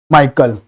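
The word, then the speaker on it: Mitchell: सरोजनी नायडू, कमलादास, माता लुटरकी या मरगेरेट माइकल बताइए क्या हो जाएगा? इसमें माइकल में टी साइलेंट होता है।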